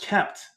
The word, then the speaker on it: kpt: So KPT, pronounced kept.